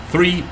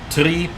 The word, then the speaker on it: three: that's an interesting username why is the number three pronounced three on the radio that's mostly because there are some cultures that simply have difficulty pronouncing the th for that reason it's been taken out and is replaced by just a t so three three it's